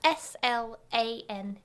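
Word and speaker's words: Slane: yeah his name is slain how do you spell that s l a n e okay obviously it's text based so I'm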